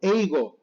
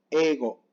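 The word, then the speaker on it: 英語: Yo la pronunciaría mal diciendo eigo, eigo, muy marcada la I, pero se pronuncia ego. Ego más ego. Muy poquito se pronuncia, ¿ok?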